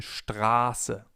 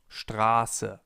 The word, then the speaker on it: Straße: If we have a sharp S, the vowel sound before the S is long. For example, in Straße, Straße, or ich heiße, ich heiße. The vowel or diphthong in this case is pronounced long, Straße.